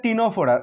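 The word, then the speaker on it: Ctenophora: তারপরে 3 দাগে আছে, এটারও সি আছে কিন্তু উচ্চারণ হবে না। এটা হচ্ছে টিনোফোরা, এখানেও সি আছে, TENO PHO ফোরা।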